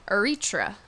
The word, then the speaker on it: Eritrea: And he is from Eritrea.